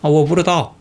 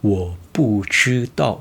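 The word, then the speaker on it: 我不知道: 근데 원래 발음은 我不知道我不知道我不知道 이렇게 知道 이 발음이 살아있는데 원어민들이 되게 빨리 얘기할 때 我不知道不知道 라고 이야기해요.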